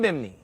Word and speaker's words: Bimini: I'm here in Bimini. I practiced in how to say it like how Biminites say it. Biminites somehow take that second I out that's unnecessary in their view.